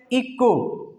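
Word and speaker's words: echo: इसको पढ़ते हैं इको, ठीक है। क्या पढ़ते हैं? इको, ठीक है। यहाँ पे एच जो होता है साइलेंट होता है, इसको ई को ये पढ़ते हैं, एच को बिल्कुल छोड़ देते हैं, इको।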